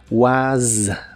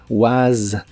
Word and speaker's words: was: cuanto a la pronunciación la s de was se pronuncia vibrante como si fuera la z inglesa was was la pronunciación de were